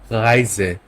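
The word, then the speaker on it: Reise: এটা একদম গলার থ্রো থেকে ভিতর থেকে আসতে হবে। এটা উচ্চারণ হবে রাইজে। রাইজে। ওকে রাইজে ভিতর থেকে আসবে। এটা রাইজে হবে না। আপনি প্রথমে শুরুতে রাইজে বলতে পারবেন ইংলিশের মতো।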